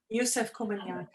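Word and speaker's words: Yusef Komunyakaa: Doesn't Joseph Komanyaka say something like that about, am I pronouncing his last name right? Yusef Komanyaka.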